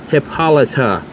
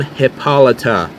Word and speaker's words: Hippolyta: And yes, it is pronounced Hippolyta. I can't stress that enough. Queen Hippolyta.